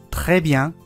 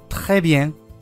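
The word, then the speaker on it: très bien: 例えばトレビアンがトレビエンというふうに発音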